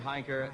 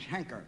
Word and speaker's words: Heinker: By the way, I believe my name is Henker. H-E-N-K-E-R, Henker. You pronounce it Henker? Well, that's what they call me, Henker.